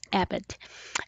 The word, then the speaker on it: EBIT: before interest and tax is often abbreviated as ebit pronounces abbott another name for abbott